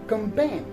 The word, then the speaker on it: campaign: where the g is silent is the word campaign so kanban is spelled as c a n p a i